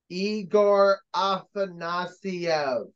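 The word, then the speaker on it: Egor Afanasyev: and assist uh I it's pronounced eigor aasia not whatever the heck Iowa's people said all right aasv that's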